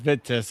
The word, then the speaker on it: Vitus: No, it's pronounced Vitus. I talked to my German neighbors.